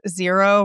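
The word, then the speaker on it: Xero: Zero, which is spelled XRO, is one.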